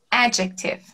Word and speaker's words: adjective: Quando, na verdade, a gente diz essa palavra em inglês adjective. Adjective, né? Adjetivo, adjective. Então, ao invés da sílaba mais forte ser no final, ela é no começo.